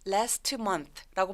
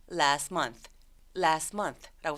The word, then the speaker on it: last month: 그래서 중간 T 소리 삭제. last month라고 발음하지 않고요. last month라고 소리 냅니다.